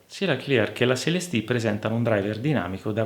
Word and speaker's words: Celestee: Anche la controparte chiusa è un modello del marchio francese, la Focal CLSD, con due E alla fine pronuncia giustamente alla francese.